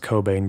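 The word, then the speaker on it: Cockbain: university college of london i know her name is actually pronounced cobain but i'm sorry we're not doing that here when this study was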